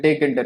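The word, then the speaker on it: Tkinter: तो हाँ, कई लोग इसे किंटर कहते हैं, टेक इंटर कहते हैं, दोनों एक ही चीज हुई। ऑलमोस्ट लाइक अलग अलग प्रोनाउंसिएशन होते हैं लोगों के द्वारा।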